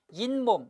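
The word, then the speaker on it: 잇몸: 이몸이라고 안 하고 뭐라고 하죠? 인몸이라고 하죠. 인몸, 즉 중간에 뭐가 첨가된 거야? 니은이 첨가된 겁니다.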